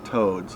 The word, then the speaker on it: toad: the our view community they call them toads like a frog but as towd is how you would normally spell it think they will call